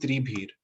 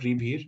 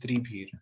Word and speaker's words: त्रिभिर्: This is त्रिभीर, नॉट रिभीर, इट इज त्रिभीर.